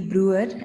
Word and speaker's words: Bruwer: Willie Bruwer. Am I pronouncing it correctly, Doctor?